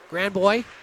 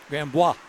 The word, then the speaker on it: Grandbois: Grandboy, right? Grandbois. Bois. You're going to have to say his name. I'm just getting Grandbois. Bois. Like Patrick Waugh.